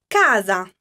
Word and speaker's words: casa: you have that Casa where do you hear the accent try to repeat it with me Casa which one of the two syllables is stronger and you feel that it's pronounced a little bit more stressed did you say gasp the first syllable you are correct now